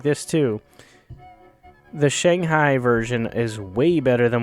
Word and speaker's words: Shanghai: and by the way, that's how you pronounce it. I'm American. It's Shanghai.